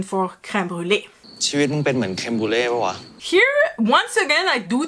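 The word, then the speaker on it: crème brûlée: isn't uh good uh if you want to be faithful to the french word which is creme brulee we're gonna see today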